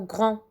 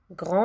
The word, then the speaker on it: grand: alors pour le mot grand grand là je prononce le gr à n est pour le d je prononce pas le d quand je dis pas